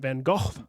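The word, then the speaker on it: Van Gogh: Star Night by Vincent van go yep we always say van go in the United States but apparently it's van again gorgeous painting I don't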